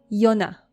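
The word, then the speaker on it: יונה: Yonah.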